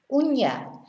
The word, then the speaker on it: uña: Uña. Whereas una, of course, is the number one, or a, like a house, una casa. So remember the difference. Año, ano. Moño, mono. Uña, una. Very important.